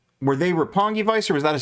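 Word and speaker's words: Roppongi: QT Marshall, uh, defeated Rapangi Vice or RPG Vice. I'm not sure if that's how you pronounce it now that I'm They stay at RPG Vice. It is Rapongi Vice.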